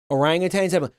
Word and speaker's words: orangutan: me and was like, "You're pronouncing that wrong. There's no G." That actually blew my my mind clear out of my skull. Orangutans.